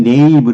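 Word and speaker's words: knave: 발음이 네이브 이렇게 되는데 뭐 이건 뭐 올드 잉글리시에서 온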